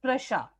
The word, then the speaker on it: Prussia: ऑलसेज, जो कि अब प्रशा, स्पेलिंग्स अगर आप देखते हैं PRUSSIA, बट the pronunciation is प्रशा, right.